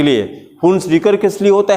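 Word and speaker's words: Hunsdiecker: बोले मेरे साथ प्रोनाउंस करिए, हुन्स-डिकर रिएक्शन.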